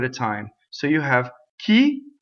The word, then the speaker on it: chi: time so you have key chi chi the H makes the the I hard CI would be chi chi is key in uh I which